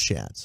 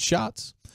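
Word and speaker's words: Schatz: uh spelled like shats but pronounced like shots I always thought it was chats I know I did too until I heard him say it for himself and I was like okay it shots uh he is the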